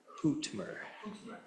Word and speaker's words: Hootmer: Is it pronounced Hootmer? Yeah. Like it's like almost like an owl. Like hoot.